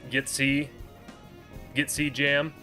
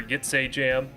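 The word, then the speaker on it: Ytse Jam: And, yeah, they pronounce it Gitsy Jam, or Gitsay Jam, but some people say YTSC Jam. Other people say it's a jam, like it's a jam.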